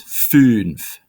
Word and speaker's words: fünf: Then comes fünf. Fünf. Notice it's not fünf because it's two dots over the U for the umlaut is Ü instead of U. So it's fünf.